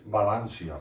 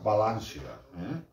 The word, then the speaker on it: València: Clar, és València, València, València, com se pronuncia en totes les comarques de la comunitat.